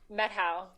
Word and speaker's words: Methow: calling and you told me before how to pronounce this correctly from the metto valley Meto Meto okay see this is very hard for